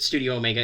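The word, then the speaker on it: Studio ω: It's written Studio with the little letter Omega, but you can pronounce it Studio Omega.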